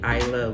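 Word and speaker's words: Islay: to Ira so it's it's spelled i s l a y but it is actually I love which is actually opposite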